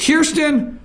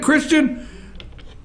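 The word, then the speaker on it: Kristian: Is it Kirsten Salser? Well, how would you say that, Lonnie? How would you say his name? I got his picture there. Is it Christian?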